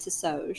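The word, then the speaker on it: Ti'sohj: okay so it was t i apostrophe s-o-h-j and I think we pronounced it to soj that is correct yeah nope that makes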